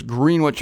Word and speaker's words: Greenwich: green Wich it's not Greenwich it's spelled the same as Greenwich of course I tried to be the sophisticated one and I came to town calling it green wi soon found out it was Greenwich anyway there was an